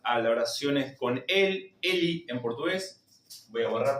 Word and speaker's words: ele: El pronombre Eli, fíjense que se va a escribir L y se va a pronunciar la E final como una I. Su pronunciación va a ser Eli.